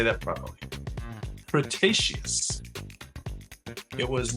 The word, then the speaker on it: Cretaceous: This prehistoric flying reptile lived during the late Crestaceious Cretaceous. I'm sorry. I don't didn't say that properly. Cretaceous.